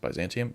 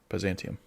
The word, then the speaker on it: Byzantium: Byzantium. Yeah, that's how it's said in English. Byzantium.